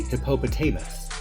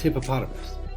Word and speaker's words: hippopotamus: Like, you wouldn't say hippopotamus. It sounds weird. It's hippopotamus.